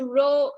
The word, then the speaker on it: rho: symbol is this one we pronounce this as room um teacher this this row um when you draw